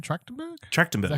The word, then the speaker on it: Trachtenberg: Trachtenberg?